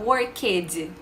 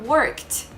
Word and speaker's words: worked: Só que a gente não fala worked, com esse som de E e D. A gente fala worked, com som de T.